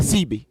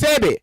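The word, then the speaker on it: Sebi: You said CB. SCBIA. You said CB. Sebe. It's Sebe.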